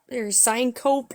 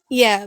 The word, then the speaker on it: syncope: But it's syncope that they gave me, that they diagnosed me with, Syncope, but it's pronounced syncope.